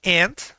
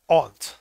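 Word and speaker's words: aunt: tía and de hecho esta palabra tiene dos pronunciaciones dependiendo de la región en donde te encuentres se puede pronunciar and y en otros lados lo pronuncian on Ah esto Esto es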